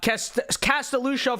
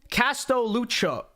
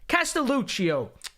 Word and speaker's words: Castelluccio: very soon here uh cast a Lucille for two dollars says my name is pronounced Casto Lucio Castel Lucio oh yeah I'm just dyslexic apparently castelluccio for two for two